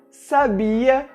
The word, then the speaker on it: sabia: Por exemplo, as palavras sábia, sabia e sabiá têm pronúncias bastante diferentes, e é exatamente o acento que nos indica como devemos pronunciá-las.